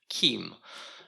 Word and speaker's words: CIEM: when they coined it they decided that you need to puton it like there is a k at the beginning so they actually wrote pronounced Kim um so I'll try to pronounce it Kim um and the way